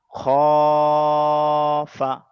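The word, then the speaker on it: خَافَ: খটা ওই একই ব্যাপার, খ আলিফ জাবার আছে। তাহলে এই আলিফ আছে, আলিফের আগের অক্ষরে আছে জাবার। তাহলে এটাও তাড়া টান দিয়ে পড়তে হচ্ছে। ওই জন্য খফা, তাবা, জাহাদা।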